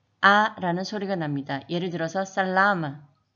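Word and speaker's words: salama: 예를 들어서 살라마에서 A는 아 소리가 나서 살라마가 되는 거죠.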